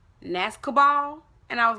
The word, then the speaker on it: Nascobal: But it's called Nascobal. So, Nascobal, Nascobal, B12 nasal sprays.